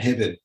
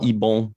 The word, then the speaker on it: Ebon: I remember we always called him Ben Hibben. And then a journalist had asked how he pronounced his name. And I even think we're still butchering it a bit, but it's French Swiss. But Ben that would be Ebon, yeah.